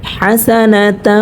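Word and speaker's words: حسنة: তা ওয়াও জবর ওয়া হাসানাতা এখানে যে হাটা আমরা দেখতে পাচ্ছি এ হাটা আমরা দুই নাম্বার মাখরাজ হতে হলকের মধ্যখান হতে উচ্চারণ করব হা ঠিক আছে হাসানা প্রিয়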